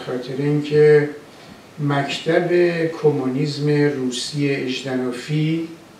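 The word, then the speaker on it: Жданов: اینکه مکتب کمونیسم روسی اژدنوفی که این تلفظ درستش هم اژدنوفه نه ژادانوف ستالین غلطه استالین درسته شما اژدنوف رو با ژ می نویسید و اژدنوف بخونید نه ژادانوف این مکتب کمونیسم روسی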